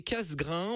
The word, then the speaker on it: Cassegrain: Et oui, Polux n'est pas mon QRZ à l'époque, c'était casse- grain. On le prononce donc Cassegrain comme la pub des conserves avec le petit lapin.